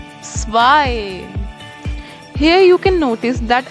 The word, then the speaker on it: zwei: So, just note down this thing that EI is always I.